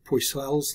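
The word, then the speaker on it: Poiseuille: law or poisel's law I think the correct pronunciation is pusoys but I don't know some French pronunciation if you know French better than I do please let me know how to pronounce that um boy squeeze most people just say poisel's law so we'll just stick with poisel's law anyhow poisel's law says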